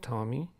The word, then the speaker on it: Tomy: you're right there Tomy I believe it's pronounced Tommy Tommy Tommy I think